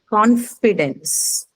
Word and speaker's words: confidence: um, It's a noun. So so remember the first first syllable. syllable. First First syllable. syllable. First syllable. Okay.